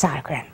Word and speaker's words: Sodergren: Well, Sodergren, did I pronounce that right? Yes, Sodergren, is the owner of Up Vibrations.